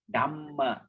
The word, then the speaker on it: Dhamma: Remember, pause slightly between the double consonant. That means Sabba. We say Sabba, Dhamma, Dhamma.